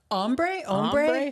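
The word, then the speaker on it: ombré: Ombre?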